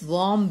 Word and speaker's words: warm: next to his mother's warm belly. Next to his mother's warm belly, W-A-R-M, warm, here R is silent, warm belly, B-E-L-L-Y, belly, belly means stomach, okay.